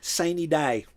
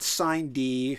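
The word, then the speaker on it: sine die: day say it so they can understand adjournment saney day that's it not sign d or not sun or we pronounce it right though they say we the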